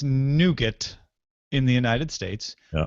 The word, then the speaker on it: Nougat: my Nexus phone, and that is Nougat, because that's how you say it. You say it Nougat, not Nougat, or whatever you said the other day.